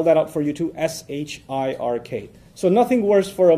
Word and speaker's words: shirk: out for you to s-h-i-r-k so nothing worse for a Muslim from a faith perspective nothing worse than shirk s-h-i-r-k sounds like Shrek so that's easy to